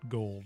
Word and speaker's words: Gould: in front of him he pronounces it gold and i pronounce it gould very stu godzilla view